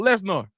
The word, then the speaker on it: Lesnar: C Right Said dude I can't let you pronounce Brock name like that is Brock Les I refuse I'm not gonna say it Lesnar that's brought Lesnar and and I know